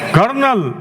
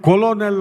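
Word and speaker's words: colonel: ಓ ಎನ್ ಇ ಎಲ್ ಕರ್ನಲ್ ಆರ್ ಎಲ್ಲಿದೆ ಅಲ್ಲಿ ಆರ್ ಅನ್ನುವಂತಹ ಲೆಟರ್ ಇಲ್ಲ ಉಚ್ಚಾರಣೆ ಮಾಡಬೇಕಾಗಿದೆ ಕರ್ನಲ್ ಅಂತಕಂತದ್ದು ನಾವು ಹೇಗೆ ಬರೆದಿದ್ದೀವಿ ನೀವು ಅದೇ ತರ ಉಚ್ಚಾರಣೆ ಮಾಡಬೇಕು ಅಂದ್ರೆ ಸಿ ಓ ಎಲ್ ಓ ಎನ್ ಎಲ್ ಕೊಲೋನೆಲ್ ಅಂತ ಉಚ್ಚಾರಣೆ ಮಾಡಬೇಕಾಗುತ್ತೆ ಹಾಗಾಗಿ ಎರಡೇ ಎರಡು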